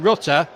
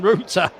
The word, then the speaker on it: Rutter: I better not get this pronunciation wrong because in the past I've commentated and then I've called him Rutter rather than Ruta.